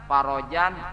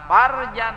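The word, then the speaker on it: فرجا: Allahumma farrij anna farajan ajila. Roknya itu fathah, jangan sukun. Tapi apabila membacanya Allahumma farrij anna farjan ayam, itu kemaluan artinya.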